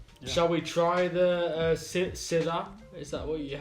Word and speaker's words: Syrah: So in Australia, they call the variety Shiraz, and pretty much in the rest of the world, they call it Syrah, which is spelled Syrah. So different spelling, different pronunciation, but the same grape variety.